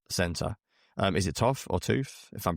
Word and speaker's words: Toth: Is it Toth or Tooth, if I'm pronouncing that Toth. correct? Toth, there you go.